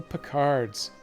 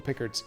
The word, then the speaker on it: Picard: The official pronunciation is Picard, but I'd been doing Pickard up until I saw the most recently released game where they actually say it out loud for a change.